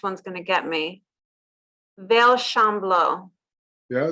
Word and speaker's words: Veilchenblau: Vale Chamblot. Yeah, not too bad. Veilchenblau. Veilchenblau.